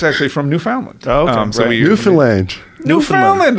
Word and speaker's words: Newfoundland: Newfoundland, as in understand. Right. Marijuana increases. Newfoundland is how you say it.